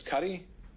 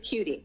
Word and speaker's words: Kutti: Is it Miss Kutti? It's Cutie. Cutie, excuse me.